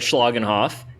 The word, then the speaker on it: Schlagenhoff: I think you said Schlagenhoff. And okay, cool. That is exactly how you say his name, and we